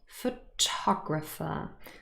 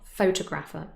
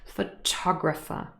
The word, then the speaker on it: photographer: the second syllable and the word sounds very different photographer so stress is on the second syllable it's not photographer no no no some people say that but it's not correct photographer so remember this doesn't